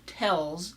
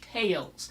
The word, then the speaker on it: tales: time the tells tales it's not tells its tales and that's not and